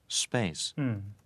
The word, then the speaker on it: space: 되죠 예 뒤에 역시 스페이스가 아니고 침이 툭튀는게 아니라 스페이스 이렇게 말하면 되죠 사운드가 됩니다 예 바람소리가 빠져요 다시 들어보세요 자 자 자 이였고 자 브리티시 액센트로 들어보시면 space음 space 스이 마찬가지 발음이